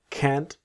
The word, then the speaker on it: can't: I'm really sorry, but I can't, so cannot, can't always that strong T of can't.